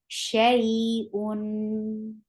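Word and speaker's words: شيء: You will give a nice time on fatha. Sha, sha, and then attach with ya, shay, shay, and then un. You're giving tawassut on when you're pronouncing tanween. Shay'un.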